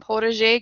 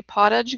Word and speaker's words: potager: some background information on Protege gardens that is as close as I'm going to get to the French pronunciation sometimes English pronunciation we just say pottage gardens or potted your gardens we're going to discuss